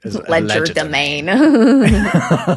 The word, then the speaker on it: legerdemain: And we pronounce it in this sort of obnoxiously English way. Legerdemain.